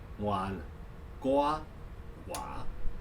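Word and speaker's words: 溫哥華: The last three characters, Wan Gua Wa, means mild, warm. Gua is older brother, Wa is Chinese. That phonetically made it possible for a Chinese speaker to go Vancouver, Vancouver.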